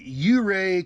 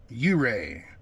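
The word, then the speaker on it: Ouray: foreign America how we doing today we are in uray Colorado o-u-r-a-y you Ray the O is silent u-ray Colorado uh it's on Highway 550.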